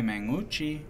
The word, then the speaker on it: Mangucci: Can't you just mung? And then oo? And then chi? I can't pronounce his last name. You just gotta mung, oo, chi. Mangucci. And you kind of blend it in. Just blend it together.